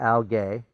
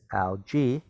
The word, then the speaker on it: algae: devonian g huh it's not al gay it's algae so should i make